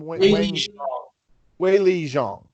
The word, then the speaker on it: Weili Zhang: Weili Zhang.